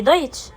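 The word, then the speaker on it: Deutsch: المهمه ان التسي اهو لو جه قبلها اس تنطق شين زي ايه زي دويتش يبقى المقطع اللي هو الاس ت سي ها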